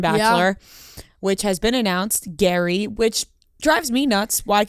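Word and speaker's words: Gerry: Gary because it says it says g-e-r-r-y is how he spells it but then it says pronounced like g-a-r-y g-a-r-y is Gary yeah that's Gary yeah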